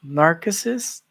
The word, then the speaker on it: narcissist: Calling your partner, I figured out the correct pronunciation is narcissist, not narcissist. It's narcissist.